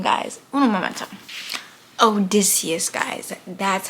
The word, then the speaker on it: Odysseus: Odysseus, guys. That's how you say it. Odysseus.